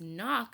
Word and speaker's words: knock: could be confusing because knock starts with a K usually K say the sound just like cake sees sometimes say the sound but in the word knock the K is silent the e sound is